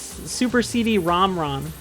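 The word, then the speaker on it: Super CD-ROM²: Symphony of the Night rules, but Oh, Zoltrain, you gotta look at the 2 at the end of the Super CD-ROM. It's not squared. It's Super CD-ROM. That's how you pronounce it.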